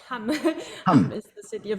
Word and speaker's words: Hamm: The city Hamm? Hamm, Hamm, or Hamm? How do you say? Yes, Hamm.